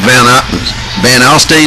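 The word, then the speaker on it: Van Alstyne: Gilmer's playing Van Alstine, is that how you say it?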